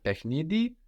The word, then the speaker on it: παιχνίδι: So we have παιχνίδι with the accent on ni, παιχνίδι, and then του παιχνιδιού.